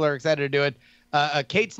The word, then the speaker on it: Cait: Kate's name is spelled CAIT.